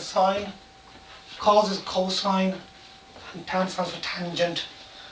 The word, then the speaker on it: sin: Even though it's written as sin, we pronounce it sine.